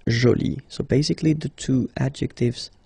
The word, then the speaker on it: jolie: So you can see that you put this E, but then you don't pronounce it, okay? So it's joli. So basically, the two adjectives, masculine joli and feminine joli, are pronounced the same way.